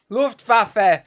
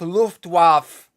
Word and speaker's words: Luftwaffe: Luftwaffe, not Luftwaffe.